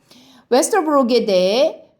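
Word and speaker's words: Vesterbrogade: 이것은 어떻게 발음하라는 뜻이냐면 O에다가 입술을 동그랗게 오므리라는 뜻인데 우리나라에도 이런 발음 비슷한 게 있어요.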